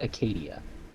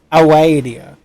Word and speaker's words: Acadia: That is pronounced Acadia. Oh, it looks like Awadia. It looks like an O. No, it's a C.